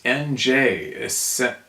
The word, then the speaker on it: Angers: It's NJ, essentially the N, like in French.